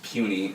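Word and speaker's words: puisne: justices about that term I know it's spelled Pew sign but it is puny and always have to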